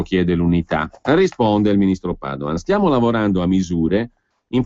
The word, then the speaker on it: Padoan: So bene che alla fine sembra che non sia successo nulla, dice il ministro Padoan con l'accento sulla prima A, ma in realtà è successo qualcosa, cioè si è impedito che la situazione peggiorasse ancora.